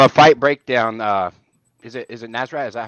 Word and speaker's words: Nasrat: On a fight breakdown, is it Nasrat? Is that how I pronounce it? Yeah, Nasrat. Yeah, Nasrat.